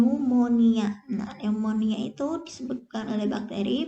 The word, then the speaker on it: pneumonia: selalu Merokok itu ya tulisannya pneumonia Tapi bacanya nih pneumonia pneumonia itu disebabkan oleh